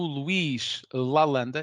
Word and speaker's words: Luís Lalanda: Por isso, temos connosco hoje o Luís Lalanda, é assim que se diz, não é, Luís? Bem pronunciado.